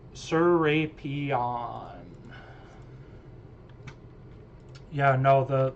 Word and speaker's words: Serapion: I'm pretty sure it's Serpion. Sorapion. Serapion. It's the letter to Serapion. That's how you pronounce it. Serapion.